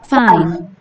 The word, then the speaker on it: fine: Fine. F는 항상 윗니가 아랫 입술을 스치면서, Fine.